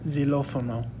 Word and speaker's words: xilófono: And then a word to use for that is el xilófono. El xilófono. So just like in Spanish, that X sometimes can make a Z sound.